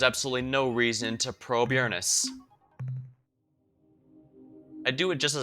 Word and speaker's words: Uranus: I think it's technically pronounced Uranus, but we all know the real... Everyone wants me to pronounce it Uranus.